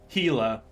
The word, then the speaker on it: Hila: Sheila? Hila. Like Kilo, but remember.